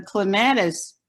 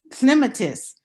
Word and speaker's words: clematis: clematis plant was pronounced clematis because I was listening to the British pronounced plants. it is pronounced clematis because it's Greek in origin, and in Greek, the antepenultimate syllable always takes the stress, as you probably remember.